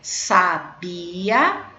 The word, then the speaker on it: sabia: adjetivo tá bom então olha a pronúncia como é diferente sabia sábia tá bom vamos lá